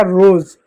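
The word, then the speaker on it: rose: और शब्द देखो जैसे आर ओ एस ई हो गया आर से र हो गया ओ से ओ की मात्रा हो गया एस से ज हो गया हो गया रोज रोज मींस होता है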